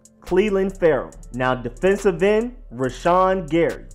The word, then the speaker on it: Cleveland Ferrell: edge rusher Cleveland Ferrell Cleveland like Cleveland as in Atlanta if you pronounce it with the Atlanta accent it is not Cleland Farrow it's Cleveland Cleveland Ferrell now defensive end rashon